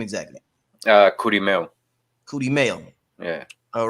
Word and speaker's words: Kurimeo: Kurimeo.